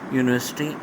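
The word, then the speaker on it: university: Error option D में, यूनिवर्सिटी अगरचे है तो वो, लेकिन आ की आवाज़ नहीं आती उसके प्रोनाउंसिएशन में, तो ये एन नहीं बल्कि आ होना चाहिए था, ठीक है, तो एरर है ऑप्शन ए में।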